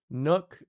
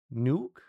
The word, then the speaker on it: nook: Nook is pronounced like book. Nuke.